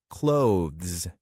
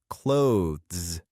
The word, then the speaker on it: clothes: The easiest way to pronounce it is to say it like the word close, as in, close the door. However, if you want to try the standard pronunciation, you can practice saying clothes carefully with both sounds.